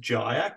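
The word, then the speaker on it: Kjaer: If you look at some of, I think his name's pronounced Jaer, K-J-A-E-R.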